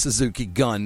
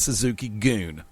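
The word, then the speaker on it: Suzuki-gun: and I know that it's pronounced Suzuki gun not Suzuki goon Suzuki goon Jim Ross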